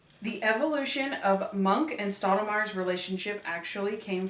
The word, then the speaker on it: Monk: Before auditioning, Trailer had never seen an episode of Monk. How do we let this be famous? This was evident by the way she was pronouncing the characters' names. This is Mr. Mank.